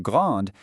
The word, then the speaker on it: grande: In the masculine "grand", the D is totally silent, but in the feminine "grande", that E forces you to pronounce the D.